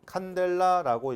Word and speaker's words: 칸델라: 자, 색이고 그 다음에 단위는 CD, 칸델라라고 읽어요.